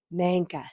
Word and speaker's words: Nanka: And I remember you telling me Nanka, Sanka.